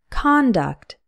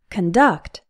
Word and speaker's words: conduct: by your disrespectful conduct again the first part is pronounced con conduct it's the opposite in the verb conduct where the first part is pronounced K conduct means to manage control